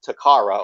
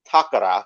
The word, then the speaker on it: Takara: toys lately he's been covering a lot of takara or as it's properly pronounced takara because he actually says it right unlike the